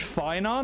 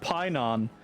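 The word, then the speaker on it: Phainon: F find Pinon okay is it Fon or Pinon they said Pyon but the pH is technically pronounced F like like an F right don't panic leave this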